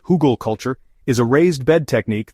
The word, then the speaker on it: Hugelkultur: At its core, Huggal culture, pronounced Hoogal culture, is a raised bed technique that mimics the natural processes of forest floors.